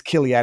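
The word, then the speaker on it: Chiliad: If you are able to comment on the Gain Maxwell sister's company, Kilad, and I looked up the pronunciation, it's Kilad.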